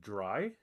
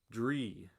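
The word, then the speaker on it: Dri: And is your name, is it Dry? It's D-R-I, Dry, is that correct? I hate to mispronounce anybody's names. Ms., I feel like I shouldn't read that out loud if I'm not supposed to tell your boss. Dree. So I'll try to remember that Dree.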